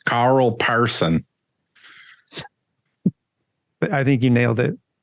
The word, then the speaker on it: Persson: pretty good person not person just say Carl Parson I think you nailed it right good job